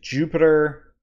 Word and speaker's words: Jupyter: have Python 3.8 and I'm gonna use Jupiter but that's Ju py ter remember that it's spelled a little bit differently than the planet and I'm also going